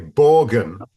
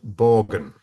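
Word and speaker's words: Borgen: TV series um called I'll pronounce it the uh English language way borgan which is actually very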